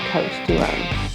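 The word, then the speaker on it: Côtes du Rhône: Côte du Rhône. Côte du Rhône. The S is silent in Côte du Rhône.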